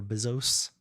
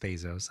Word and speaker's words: Bezos: Bzos. I know. I know it's pronounced Bezos.